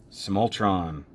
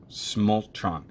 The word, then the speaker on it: Smultron: 704 t SP ahead small tron small trunk I keep adding an extra syllable like there's an eye